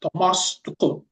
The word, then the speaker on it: Thomas Tuchel: I think it's pronounced Thomas Tuchel, if I got that pronunciation right. Oh, yeah, Mario said I got it right.